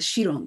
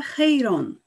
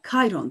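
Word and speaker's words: Chiron: Ol Evlat edilmişti biliyorsunuz Siz Arap adresinden mirasla Sheeran diyorsunuz ciron yazılışına da kilon okunuyor zannediyorsunuz O yüzden alıştığınız kilo demeye veya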